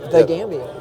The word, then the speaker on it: The Gambia: And you said it right, the Gambia. There you go. So most people say Gambia. I said no, it's actually called, I don't think I